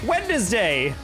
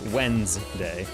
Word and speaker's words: Wednesday: I always thought it was pretty glitched that I think we all universally say Wend, like W-E-N-D-S day, like in terms of pronunciation, even though everyone acknowledges it is Wednes, like in terms of spelling. Like even in the show, no one's like, Wednesday! You know, it's Wednesday. Because the D isn't silent, you know?